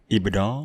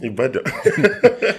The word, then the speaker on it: Ibadan: Ibadan. Ibadan.